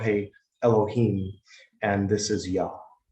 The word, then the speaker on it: Ea: And the name also, that name in particular, Yah, came from the Assyrian Yah, like, you know, spelled E-A. That's where they got Yah, because it's pronounced Yah.